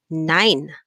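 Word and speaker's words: nein: have remember this one your diphthong e and i so we said there always look at the last letter there i so e and i put together is pronounced as i so we have here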